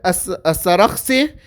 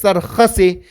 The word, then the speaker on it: as-Sarakhsi: And then the third scholar is Shamsul A'imma Muhammad ibn Ahmad as-Sarakhsi, and Mullah Fazlur Rahman says that you can also pronounce it as Sarkhasi.